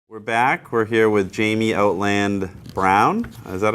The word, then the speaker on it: Jamie Outland Brown: We're here with Jamie Outland Brown.